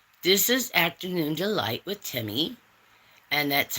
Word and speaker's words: Temi: This is Afternoon Delight with Timmi. And that's how you say my name. And it's real simple. Um a lot of people want to say it different. If you want to call me, that's fine, too.